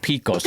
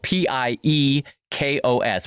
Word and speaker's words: Piekos: It's spelled p i e k o s, which I think is Greek. Is that Piekos? I believe it is. Yes.